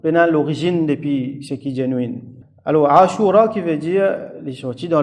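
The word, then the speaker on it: عاشوراء: depis ce qui alors asoura qui veut dire sorti dans le motarin qui veut dire 10A Alif Shin W avec RA Alif Hamza donc asou trois longues syllabes ASA qui veut dire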